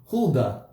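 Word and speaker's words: Huldah: Huda. That's how you say it.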